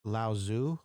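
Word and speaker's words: Lao Tzu: it is it's not there's a t in there which isn't pronounced and when you say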